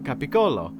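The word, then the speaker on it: capicola: deli meat you know cap Colo which if you don't know is the original way to pronounce Gaba goul every time someone said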